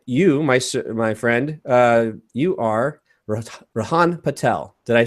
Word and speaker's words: Rihaan Patel: And you, my friend, you are Rihaan Patel. Did I pronounce that correctly?